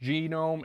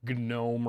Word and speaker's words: GNOME: use that so uh today i learned it's pronounced genome it's probably gnome or whatever i i don't care